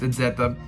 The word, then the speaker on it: Ezeta: I want to pronounce it in Spanish because I think that's right, but it's Ezeta.